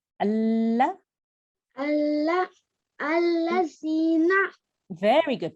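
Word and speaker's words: الَّذِينَ: Allazina. Very good. But you need to make sure you have this pronunciation for 2 seconds. Allazina. Much better. Well done. Once after me. Alladhina.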